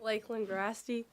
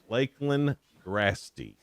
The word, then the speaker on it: Lakeland Grasty: Lakeland Grasty. Lakeland Grasty. All right. So what's so funny? You said it right, actually.